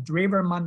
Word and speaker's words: Drewermann: developed by Eugen Drewermann, spelled like Eugene without an E at the end, and then Drewermann is like Drew, D-R-E-W-M-A-N-N.